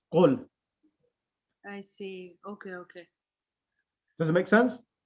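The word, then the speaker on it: قل: whenever there are two, there's a ruling of in tajweed as well, iltiqa'i sakinain, when there are the two silent letters together, and one of them is a weak letter, the weak letter is omitted, so it becomes qul.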